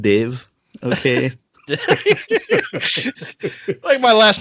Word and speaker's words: Dev: make assumptions oh yeah it's pronounced Dave okay my last name